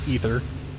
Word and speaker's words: Aether: And I think I looked it up, and I think what we've been calling Aether is actually supposed to be pronounced Ether.